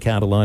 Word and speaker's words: Catalan: It is Catalan Elite, not spelled like Jalen Catalan. It's C-A-T-A-L-A-N, Elite.